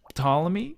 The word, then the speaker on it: Ptolemy: Ptolemy. I think so. Ptolemy? You don't say the P? That's disappointing. I think it's I think it's disappointing. Because of the silent P.